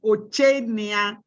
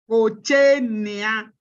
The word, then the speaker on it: Ochenia: The correct pronunciation of my name is Ochenia. Ochenia.